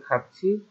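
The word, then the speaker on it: 같이: তো এবার দেরি বলতেছে ছোয়াইও, ছোয়াইও মানে ভালোই হবে, খাচ্ছি খাচ্ছি খাচ্ছি তো উচ্চারণ জানার কথা, থিয়ত বাচ্চামের পর যদি ই আসে তাহলে এটা ছিয়ের মতো উচ্চারণ, তাহলে খাচ্ছি একত্রে, খা মানে গিয়ে, ফুব সিদা মানে দেখবো, একত্রে গিয়ে দেখবো।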